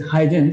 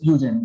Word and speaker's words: Huygens: Some people pronounce it as Huygens. It is Huygens basically.